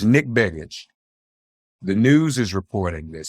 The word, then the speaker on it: Begich: advantage for the Democrat, Mary Peltola, if I'm pronouncing that correctly. Yeah. So it was Nick Begich.